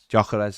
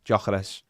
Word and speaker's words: Gyökeres: How do you pronounce his name, Ned? Yeah, thanks, Ned. Gyökeres, yeah. Gyökeres.